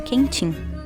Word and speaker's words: quentinho: perdendo a última sílaba, por exemplo, quentinho passa a ser produzido como quentim.